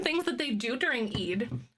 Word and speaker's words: Eid: Oh, pronounced Eid, and it marks the end of Ramadan.